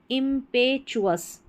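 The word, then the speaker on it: impetuous: पर हो गया पे इंपेचुअस इंपेचुअस देखिए इसको हिंदी में उच्चारण इंपेचुअस इंपेचुअस का मतलब होता है उतावला उतावला वही आवेगी आवेग में आना तो उतावला इंपेचुअस इंपेचुअस।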